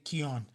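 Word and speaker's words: Keown: know if you remember pitt it's funny i pronounced his name dale keon keon yeah there we go keon it is i think that's the proper way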